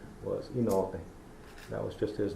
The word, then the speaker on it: Enote: In fact, my last name it's spelled E-N-O-T-E, but it's pronounced Enote.